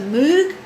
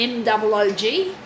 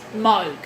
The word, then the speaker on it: Moog: And the name, it's often referred to as a Moog because of the M-O-O-G, but it's actually pronounced Moog.